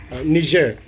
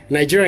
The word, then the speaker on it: Niger: So that's how you say it, Niger.